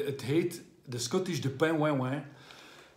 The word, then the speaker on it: De Pen Houa Ouian: En het heet de Scottish de Pain Wain Wain. Zo uitgesproken, Pain Wain Wain.